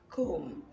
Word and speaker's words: comb: in a word like comb you know that the letter b although it appears at the end of the word it is not pronounced and so knowing the